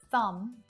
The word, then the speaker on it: thumb: Notice that all of these silent B's have an M before it. Lamb, crumb, numb, plumber, thumb. So this is a good clue.